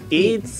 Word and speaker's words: Eets: been playing ATS Munchies it's Munchies eats eats Munchies but there's no a that's e it's Mis it's spelled phonetically it it's munchies